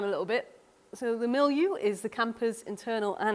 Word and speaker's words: milieu: I had to even look up how to say it, and it's milieu.